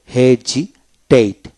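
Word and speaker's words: hesitate: তারপর হেজিটেট, হেজিটেট এসের আগে ভাউল পরে ভাউল থাকলে জ এসের উচ্চারণ জ হয়।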